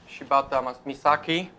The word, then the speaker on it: Shibata Misaki: Now we have a guest from Japan, Miss Shibata Misaki. Is it correct? Yes. The pronunciation is correct.